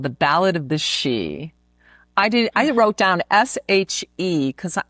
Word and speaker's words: Sidhe: was Googling something and up came SIDHE. And it said the she. Showed the pronunciation. I'm like, the she.